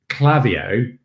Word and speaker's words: Klaviyo: I know, but the thing is like if I say Clavio, I can spell it, but if you say Clavio, you start second guessing yourself.